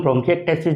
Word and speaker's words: bronchiectasis: आज हम ब्रोंकिएक्टेसिस जो है उसको शॉर्ट में रिव्यूज़ करेंगे। इसको प्रोनाउंस करना थोड़ा टिपिकल होता है, इसको ब्रोंकीएक्टेसिस करके प्रोनाउंस कर सकते हैं।